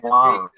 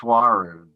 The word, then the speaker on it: Nwaru: It's pronounced Waru. Say that again. It's pronounced Waru. Let's pretend Okay. that the N is silent.